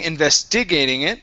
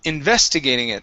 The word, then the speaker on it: investigating: Okay, so instead of saying investigating it or investigating it, it's investigating it. The stress is on the VES.